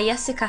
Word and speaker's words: Jessica: 아, ¿cómo está, Jessica라 그래야 돼. 거기 애들은 J를 예로 발음하거든. 아, ¿cómo está, Jessica?